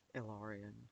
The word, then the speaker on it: Ilarion: And one of my goals moving forward with Ilarion, which is how the business is pronounced, by the way, um, Ilarion Massage and Healing.